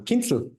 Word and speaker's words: Kienzl: do you say your last name um kinel kinel Kinsel who is you guys don't